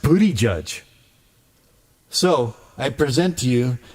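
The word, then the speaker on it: Buttigieg: I present to you the honorable booty judge. Because that's how his name is pronounced. Booty judge. Trump Trump's always like butt edge edge, which is also funny.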